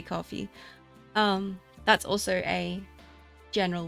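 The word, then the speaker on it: Ko-fi: Rock lab over at Kofi or coffee I'm not sure actually how people pronounce it I always read it Kofi but I know it's meant to be coffee um that's also a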